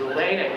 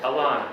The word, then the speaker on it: Alana: So is Elena here? Who's Elena? Alana. I'm sorry, Alana.